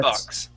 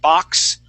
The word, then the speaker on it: bucks: please repeat that 400 bucks okay you would said box okay using more of an a sound that is going to use a short u Buck okay okay 400 good